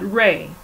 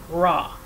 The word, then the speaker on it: Ra: Ra, and pronounced Ra and not Ray, hence R, light, Aurum,